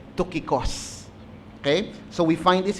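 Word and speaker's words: Tychicus: Siguro pag english tyikos no? Pero ang Greek pronunciation po talaga niyan ay tokicos.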